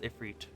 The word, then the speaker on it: Ifrit: Ifrit. And yes, it is pronounced Ifrit.